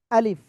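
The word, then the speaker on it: ألف: এই অক্ষরে কোনো টান হবে না, আলিফ।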